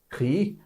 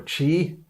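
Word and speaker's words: χ: to it so and there is the letter here that looks like an x but it is pronounced key or chi that is 600 and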